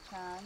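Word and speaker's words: ช้าง: How do you say elephant in Thai? Chan. Chan, that's it.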